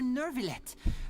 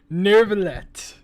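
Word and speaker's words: Neuvillette: I am Oh, Mure Nurvlet. What an honor to have you here. That's how you pronounce it. Nervallet. I'm saying Nouvallet. That sounds much better.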